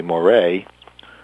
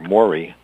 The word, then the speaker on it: Moray: guy named T Henry Moray um or Mory is the way it's pronounced I believe m o r y uh created um these